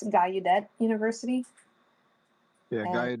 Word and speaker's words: Gallaudet: It's called, I don't know how you pronounce it, but it's Gallaudet University. Yeah, And- Gallaudet. Yeah, Gallaudet.